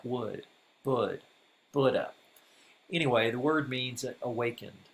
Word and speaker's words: Buddha: of us often say Buddha. In fact, I still catch myself saying Buddha. But the first syllable rhymes with wood, so it's really Buddha, like wood, bud, Buddha.